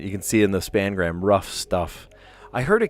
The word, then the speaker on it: spangram: I didn't correct them or anything, but I was like, ooh, that makes me feel weird because I call it what it is. It's the spangram, not the spanogram.